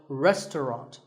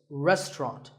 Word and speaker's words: restaurant: fancy spelling confuse you the second syllable is just tongue and the third is wrought so restaurant in British English you might hear just two syllables restaurant that is also correct after you eat at